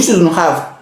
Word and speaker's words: shouldn't: Après ça, you shouldn't have. You shouldn't have. You shouldn't have. You shouldn't. On ne prononce pas le. You shouldn't have.